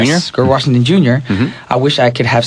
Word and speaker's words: Grover Washington Jr.: And just like Grover, I keep saying his name wrong. What's his name again? Grover Washington Jr. Yes, Grover Washington Jr.